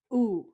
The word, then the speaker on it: ou: our last one for today is ooh ooh kind of like what an owl would say oh all right let's